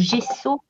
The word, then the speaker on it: gesso: Alors, Scrapinette, Ninon a mis du gesso. Hein, cette fois, j'ai bien prononcé.